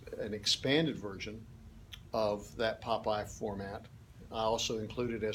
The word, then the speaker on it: POPIE: always you can always rely on Popeye okay not spelled like the cartoon character though